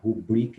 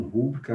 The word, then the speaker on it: rubrica: Rubrica e não rúbrica, recorde e não recorde.